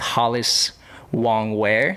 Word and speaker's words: Hollis Wong-Wear: I'm sitting with Hollis Wong-Wear.